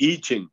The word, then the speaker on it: I Ching: They pronounce I like E. Okay. It's a Chinese pronunciation. E. Right, good. So it's the I Ching.